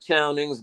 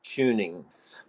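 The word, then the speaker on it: Chowning's: It looks like Chownings, but I've been corrected by Colonial Williamsburg. They pronounce it Tunings.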